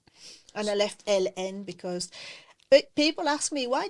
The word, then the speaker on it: Hélène: And I left LN because people ask me, why did you put the 2-letter L and the letter N, creator? I said, well, because this is how you pronounce my name, is LN.